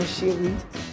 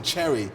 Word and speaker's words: Chery: it's all about Haiti thank you for saying my name the right way the last name say yes but even me my whole life I was saying it wrong up until I had a daughter you know haian growing up I was like yeah my name is Cherry my daughter recently she